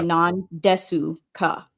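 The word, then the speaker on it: なんですか: Just even like nandesu ka. It's actually non-desu ka. Yeah, but you pronounce the U like it's an apostrophe and not a U.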